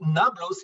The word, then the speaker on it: Nablus: if you are linguistic you know that B and P in Arabic are being basically P is not being pronounced only B so when you're saying Nablus it's supposed to be knotless knot loose sounds like